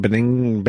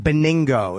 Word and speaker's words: Benigno: Benigno? It's a very hard name. Beningo. It's a hard name. But there's an N there.